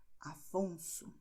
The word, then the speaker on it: Afonso: E também a letra S tem som de S após uma consoante. Afonso. Então, a letra S está justo depois da consoante aqui. Afonso.